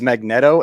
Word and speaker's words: Magneto: be good or like i had never heard it pronounced this way until i started watching the super world uh he says magneto and i was like i'm like what is that and he's like well it's like magnets and i was like